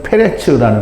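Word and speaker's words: פרץ: 어찌하여 터치고 나오냐고 하고 이름을 베레스라그나 다라는 뜻을 가진 페레츠 말입니다 근데 이제 우리말 발음으로 베레스라그나 있는 거죠 후에 홍사 묶은 형제가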